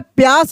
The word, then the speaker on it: प्यास: तो देखिए, जो मैं प्यास बोला हूं, तो इसमें प का उच्चारण तेजी से हो रहा है। इसका मतलब आधा प या और फिर ऐसे स, क्या बन गया? प्यास हो गया।